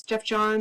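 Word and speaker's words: Geoff Johns: But I didn't realize how his name was pronounced. It was I think his name is Jeff Jones. Jeff Johns. Jeff Johns. Yeah. But I'd never seen Jeff spelled like that. It's spelled in such a weird way with like a G.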